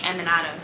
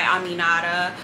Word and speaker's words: Aminata: my name is aminara in preschool they used to call me eminata I used to hate that but um I just go by Aminata it's a bunch of